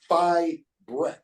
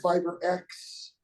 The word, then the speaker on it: Fibrex: And the correct pronunciation of it, guys, is Fibrex. Is actually how it is. Exactly the way it's spelled. Fibrex. That's not Fibrex. It's yeah. It's not Instead of free, it's not Fibre X. It's not Fiber X.